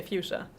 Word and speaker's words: fuchsia: Well yeah that's what I in German I would also say fia but in in English I would say fuchsia.